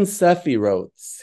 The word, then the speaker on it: Sephirot: Now here the idea of the Sephirotes, or properly pronounced Sephirot, is that of divine 10 divine hypostases.